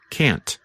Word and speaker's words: can't: to be very clear simply pronounce the letter T like can't I'm and